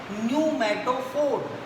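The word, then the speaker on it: pneumatophore: इसे कहते हैं न्यूमैटोफोर, टी साइलेंट होगा, न्यूमैटोफोर, टी साइलेंट रहेगा इसमें।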